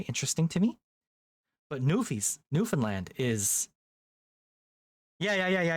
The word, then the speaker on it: Newfoundland: It's not New Found Land and it's not New Finland. It's Newfoundland. You just sort of fall off the F onto the N.